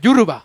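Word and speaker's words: Yoruba: Yuruba.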